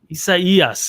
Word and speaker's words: Isaias: Isaias is the correct way to say it.